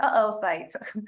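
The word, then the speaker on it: oocyte: off fight thought site I'm pretty sure I didn't pronounce that right even though it's pronounced there oh site oh cryo preservation this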